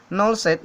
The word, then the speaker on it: 0 SET: P1 ini ada 0 set, ini bukan bacanya O set ya, tapi 0 set.